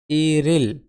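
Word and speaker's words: 일일: মানে তারিখও হয় ওকে তাহলে উচ্চারণ কি দ্বারায় ইরিল এই রিউলিং স্থানে রবে ই রিল ইরিল মানে এক তারিখ এখানে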